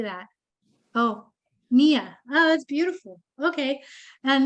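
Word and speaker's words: Ngia: off me how do you say that oh Mia oh that's beautiful okay and Mia if you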